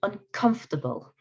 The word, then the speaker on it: uncomfortable: This word, uncomfortable. Uncomfortable. Okay, now, uncomfortable. It's like, it's almost like this syllable isn't really said.